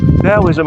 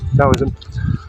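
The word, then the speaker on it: Taoism: it as a religion it's been said to be dowoism I've heard or dowoism different ways of pronouncing Mandarin Dowism. So Dism I should say Dowism.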